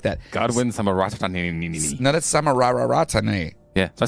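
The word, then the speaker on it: Samararatne: Godwin Samarara. Oh, my God. Why do you have so many? Why does it say it like that? Godwin Samarara. No, that's Samarararatane.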